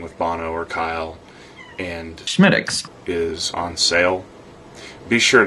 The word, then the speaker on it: Smithwick's: Bono immediately proceeded to tell me, No, you must use the Gaelic pronunciation for this beer. it's pronounced Schmiddix. Schmiddix.